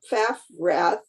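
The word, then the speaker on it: Paffrath: a person named kevin p-a-f-f-r-a-t-h and um so some people are suggesting that instead of just leaving that blank to vote for this kevin faff wrath i believe is how you pronounce it um so that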